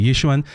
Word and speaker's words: Yixuan: Dude, I had to watch like 10 times how to pronounce that correctly. Yixuan.